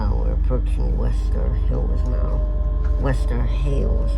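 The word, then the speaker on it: Wester Hailes: Western Hails or Hills. I think it's pronounced Haley's. Western Hails.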